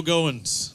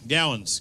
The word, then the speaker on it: Goins: out paul lucas joe goins gowens gowen's going gosh dang i said it right the first time and i second guess